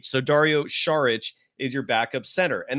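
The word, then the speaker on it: Šarić: last name is not sarich it's charich the S is actually pronounced like an sh so Dario sharich is your backup center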